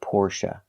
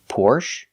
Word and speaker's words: Porsche: but like I said in America people say both you will hear both Porsche and Porsche but you will never hear Porsche you will never hear the long a sound for the last syllable it's always Porsche or Porsche now the last syllable is pronounced uh like cup and up not a like say